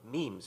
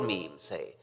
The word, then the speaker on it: memes: the French word ma'am it should be pronounced to rhyme with cream just as genes are selected for their mutual compatible so in principle might memes be the large literature